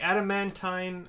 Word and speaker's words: adamantine: Like adamantine is how I'm gonna pronounce it. Like adamantoise, but adamantine.